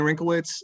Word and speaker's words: Wrinklewitz: everyone hi i'm wrinklewitz and my last name is pronounced wrinkle like on my forehead and wits just so you know